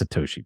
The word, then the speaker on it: Satoshi: It's Satoshi, by the way.